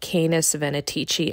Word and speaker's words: Canes Venatici: It's also worth mentioning that I've heard the pronunciation Canis Venatici as well, so I think it just depends on wherever you're located on the globe and what regional accent you have with this.